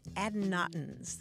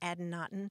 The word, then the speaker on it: adynaton: Earlier, we were talking about adynatons.